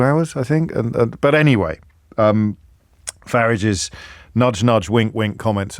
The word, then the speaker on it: Farage: It's like garage or garage. But he actually bridles when you say Farage.